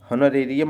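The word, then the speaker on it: honorarium: H silent हो जाता है। तो याद करने के लिए आप ऐसे ही रखो याद। होन होनोरेियम याद रखो। होनोरेरियम माने होता है मानदेय।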